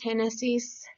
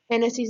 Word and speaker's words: Génesis: So the first one is Génesis. There should be an accent on the E, not on the I.